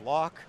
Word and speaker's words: LOK: Once you spell the 3 letters, the LOK, Up here, yeah. which phonetically is lock.